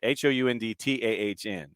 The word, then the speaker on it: Hound Town: It's Hound Town. Okay, got it. HOUNDTAHN. Okay, Hound Town. Got it. All right. It took me a second to figure out how to pronounce it properly as I'm staring at the hashtag. I'm sure I'm mispronouncing it, man. No, Hound Town. I'm not from Pittsburgh. Yeah, TAHN.